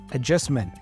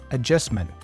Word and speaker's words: adjustment: T in the end she pronounces that t as a stop T so she goes adjustment adjustment listen again also I